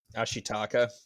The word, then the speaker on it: Ashitaka: main character how do you say his name Ashi taka ashitaka yeah um he gets shot and literally